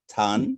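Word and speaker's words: Thann: to ask you about i think it's pronounced tan is it tan perfect so tan is in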